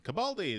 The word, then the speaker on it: Capaldi: How do you pronounce that Capaldi. Capaldi.